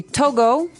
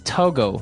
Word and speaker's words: Togo: Okay, so it's Togo. That's the way you pronounce it. Because if you look at it, I would say to go. Right, but it's not to go, it's Togo.